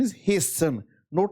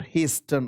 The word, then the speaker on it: hasten: Its pronunciation is hasten not hasten. Okay, this letter t silent here hasten improvement and the meaning of h will give you the answer.